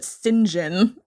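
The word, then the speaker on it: St. John: pride and prejudice um his name is well it's saint john but they pronounce it sinjin and i'm not a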